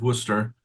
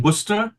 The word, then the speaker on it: Worcester: Oswald of Worcester in my heavily Americanized accent there. I know that hurt your ears out. No, that was pretty good. Okay. In comparing the pronunciations, it's just interesting. Worcester and Worcester.